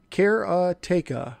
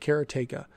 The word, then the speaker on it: Karateka: be chop lifter and let's see if i can say this right this time kerateka i think that's how you say it cariteka i actually looked that up so or karateka or karateka so that's going to